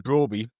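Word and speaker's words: Brobbey: I think you look at Brian Brian Broby and I I did look on a YouTube video to see him say his own name and I remember that because it rhymes with Steven Broady that I told Andrew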